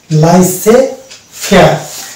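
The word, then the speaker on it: laissez-faire: লাইসে ফেয়ার, এই যে লাইসে ফেয়ার এবং রেন্ডে ভাস, এই দুটি শব্দে, এটা হচ্ছে দুটি ফ্রেঞ্চ ওয়ার্ড, এই দুটি শব্দে কেবলমাত্র আমরা জেডকে সাইলেন্ট পাবো।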